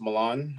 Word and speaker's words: Milan: yes very good yeah my name is Milan uh just like the city uh pronounce it the same way um I am originally